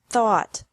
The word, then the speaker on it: thought: Thought. Thought. Remember that the G is silent in these verbs.